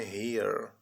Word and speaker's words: here: Aqui, o h com som de r, o e de i, o r de r, o e mudo. Here.